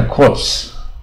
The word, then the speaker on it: corps: 你看这应该 corps 啊，他只念 corps 啊，P